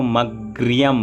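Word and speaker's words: अग्र्यम्: तो यहाँ पर ग और र दोनों आधा है, इसलिए इसको मग्रियम बोलेंगे, मग्रियम।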